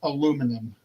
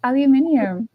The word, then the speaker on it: aluminium: It's aluminum. That is like, why do you guys say it like that? It's aluminium.